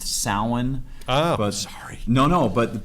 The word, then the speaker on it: Samhain: who don't know the company Samhain it's actually pronounced salen oh sorry no no but but now the